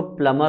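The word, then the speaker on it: plumber: वैसे ही ये जो वर्ड है प्लम्बर, इसको हमें एक्चुअल में कैसे प्रोनाउंस करना चाहिए? प्लमर, ठीक है।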